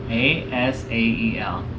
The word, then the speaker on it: Asael: Asael. Oh, wow. That's a great name. That's Okay, a great name. and for the camera, spell Asael. Asael. Beautiful. We have the pronunciation confirmed by A BYU professor, general conference